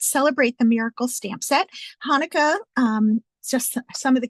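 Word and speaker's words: Chanukah: is actually in Hebrew and it is actually pronounced Hanukkah that CH that gutural German um gutural tone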